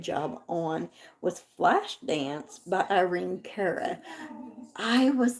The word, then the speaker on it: Irene Cara: So anyway, what he sang and did a dang good job on was Flashdance by Irene Cara. I was like, or Irene Cara, whichever way you wish to pronounce it.